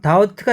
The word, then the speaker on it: doubt: 자, 이 doubt가 있습니다. doubt이 있는데 B가 묵음이고요.